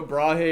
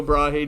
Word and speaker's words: Brahe: His predecessor, a guy named Tycho Brahe, or Tycho Brahe, depending on who you ask to pronounce it, came up with Kepler's 3 laws of planetary motion.